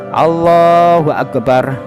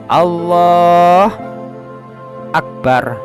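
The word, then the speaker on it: الله أكبر: akbar kemudian yang ke-11 tidak boleh berhenti antara lafaz Allah dan Akbar dengan berhenti yang lama ataupun berhenti sebentar tidak boleh harus bersambungan jadi lafaz Allahu akbar Nah harus sambung tidak boleh diputus Allah akbar Nah Enggak boleh baik lama maupun sebentar tidak diperbolehkan jadi harus bersambung continue kemudian yang ke-12itu seluruh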